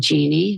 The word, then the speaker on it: Jeanne: name is pepper and Genie which is I spell it kind of strangely J A NE so have talks with